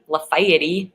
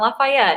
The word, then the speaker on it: Lafayette: that we pronounce differently yeah I know we pronounce our cities wrong like lafti is yeah it's supposed it's spelled Lafayette but they pronounce it laf that's in Tennessee but laf it's not Lafayette it's laf and then Lizzie was saying okay